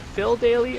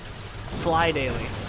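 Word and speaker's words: Phly Daily: Is it Phil Daily or Fly Daily?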